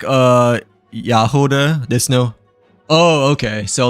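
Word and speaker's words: Jahoda: Um it's more like uh Yahoda there. No. Oh, okay. So, like um the J J is pronounced as uh Yah instead, right?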